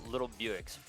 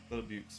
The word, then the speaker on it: Little Buicks: So Bodacious, led off by Steve, as previously mentioned, Tyler 8, and Little Buicks, I believe is how you say that, correct? Little Buicks, yep.